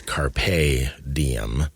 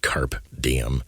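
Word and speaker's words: Carpe Diem: I talked about and I mispronounced it too shame on me for not factchecking he like a dumb American use use my foreign forign language accents or pronunciations it's Carpe DM not KP DM oh meaning meaning sees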